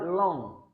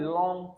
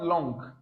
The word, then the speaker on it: long: Then we have long. It was a long time ago. Not long. Never you pronounce the G sound there.